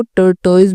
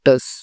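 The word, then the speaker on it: tortoise: ना तो आप इसको टर्टो बोल सकते हैं टर्टल बोल सकते हैं जिसमें आपको स्पेलिंग याद रखती रख सकते हैं आप वो बोलिए ठीक है बट इसका एगजैक्टली प्रोनंसिएशन होता है टर्स ठीक है अब चलिए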